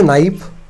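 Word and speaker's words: knife: थोड़ी सी क्या है नाइफ की स्पेलिंग है के एन आई एफ ई है ना के साइलेंट है इसके अंदर ठीक है एन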